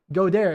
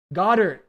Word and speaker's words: Goddard: Godare. Is that how you say his name? Godare? Goddard. Goddard. Sorry.